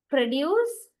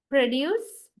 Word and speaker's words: produce: Actually, produce usually we use as a verb, but it is used as a noun when you stress the first syllable. Then the listener will understand you are referring to noun meaning. But if you stress the latter part, means the second syllable, deuce, okay, then the